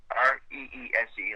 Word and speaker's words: Reese: Res like Reese's Peanut Butter Cup.